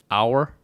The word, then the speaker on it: hour: uh o you are hour hour hour or hour no hour like hour hour like like the hours on the clock hour or hour hour